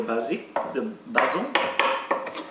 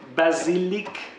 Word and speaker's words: basilic: So I'll put the garlic in this one, and when Tara has finished to chop the basil. Do you know how you say basil in French? Basil. No. Basilic.